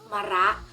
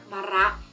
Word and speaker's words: มะระ: เห็น ไหม คะ ว่า มะ คือ พยางค์ หน้า วิ ประสม กับ วิ ศ นี เช่น กัน แต่ ว่า ออก เสียง เพียง แค่ เธอ เรื่อง เสียง ค่ะ ส่วน พยางค์ หลัง นะ ก็ คือ รอ อะระ ตรง นี้ ออก เสียง แบบ เต็ม ที่ เลย นะ คะ ดัง นั้น ทั้ง คำ นี้ จะ อ่าน ว่า มะ รัตน์ มะระ ก็ เอา มา แล้ว